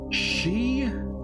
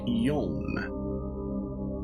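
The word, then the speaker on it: 四: The 2 possible pronunciations for the kanji for 4 are shi and yon.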